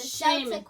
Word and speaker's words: Celtic: Sheamus, the Celtic warrior. Yes. Celtic warrior. He said what? Celtic. Celtic? Like the Celtics? I believe it's Celtics. Oh, it's Celtic warrior. Friend. Yeah, but it sounds like a K.